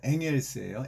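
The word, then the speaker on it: Engels: 그 다음에 이 책은 유명한 공산당 선언, 코뮤니스트 이슈 마니페스토에서 막스와 엥겔스가 여러분 엥겔스라고 하지만 원래 독일어 발음은 엥헬스예요.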